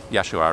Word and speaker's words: Yeshua: Yeshua, I should mod you. So, am I saying it right? Or is it... Yeah, you pronounce it like Joshua, but with a yes. So that would be... Yeah, Yeshua, right?